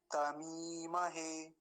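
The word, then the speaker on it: तमीमहे: तमी महे तमी महे तमी में क्या है मकार पर दीर्घ इ का है बड़ी ई की मात्रा है तो लंबा खीच बोलेंगे तमी महे ऐसा नहीं तो कई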